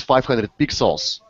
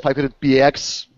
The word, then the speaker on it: 500px: So the proper pronunciation is 500 pixels, but if you want to call it 500px, that's fine, because I'm doing the same like almost every other day, unfortunately.